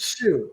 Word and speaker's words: Su: pronounce it like Oh, SU. Sue. Sue.